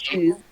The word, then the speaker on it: Shang-Chi: Shang-Chi. It's pronounced Shang-Chi.